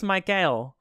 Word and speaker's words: Mickael: all this all this Mickael yes thank you as they pronounce it in the older world yes hello pronunciation but